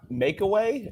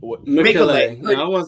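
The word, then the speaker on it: Mecole: have developed a better connection between Bowie, Red, Mekule, America, myself, and Corey. That would have been my group. Yeah. I'm sorry. Am I Makeaway? Mekule.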